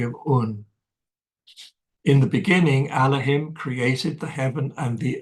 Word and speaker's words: Elohim: Now, Atum the Absolute, who is both Tat and Nun, was named Elohim, nowadays pronounced Elohim, by the Hebrews, which is rendered into English as God.